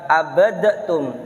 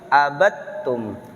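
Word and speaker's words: عَبَدْتُمْ: hukum idgham mutajanisain design jadi dia tidak dibaca abadtum tapi langsung abadtum dagingnya ditiadakan langsung masuk ke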